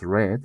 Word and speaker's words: read: En las dos últimas de red and red se pronuncia como el color, como el color rojo prácticamente.